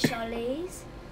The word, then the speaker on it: Charlize: Charlize. Yeah. Because my mum says it like when we're at like dentists and that, she says Charlize, like she holds it for like ease.